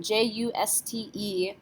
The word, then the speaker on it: juste: How about the next one, J-U-S-T-E? E is not a careful letter, so we do not pronounce it. Juste. End with the T, juste.